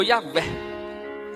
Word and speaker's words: Yahvé: São só consoantes. É para ficar mais fácil para pronunciar, colocou um E e um A. Ficou Yahvé.